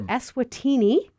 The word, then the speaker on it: Eswatini: Tell us a little bit about this trip to Africa that your church took to Esatini, if I'm saying it right.